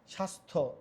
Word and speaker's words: স্বাস্থ্য: যেমন সন্ধ্যা জফলা এখানে দেখো জফল উচ্চারণ নাই স্বাস্থ্য জফল উচ্চারণ নাই কি বলছে জফ উচ্চারণ থাকবে না